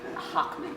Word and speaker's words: Hochman: It is my great pleasure to introduce someone who I didn't ask the pronunciation of their last name. Hochman. Hochman, thank you.